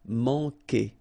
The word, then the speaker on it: manquer: Okay, remember when we get this Q after that, automatically we get this U, but then we don't pronounce the U, okay? So manquer. So it's really que, que. Manquer.